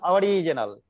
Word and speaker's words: Ouriginal: Original, if it is English pronunciation, it is called original. But as CDS, they are just adding U there, and their pronunciation is our original.